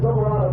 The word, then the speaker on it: Silverado: Now, Silverado is the correct way to say it. The left driver's Dory, and he says Silverado. And if I say Silverado, Julie really wants to claw my eyes out.